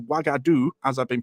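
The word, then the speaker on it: Uagadou: the name is pronounced wagadu as I've been pronouncing it which just so happens to be identical to the kingdom of wagadu the name given for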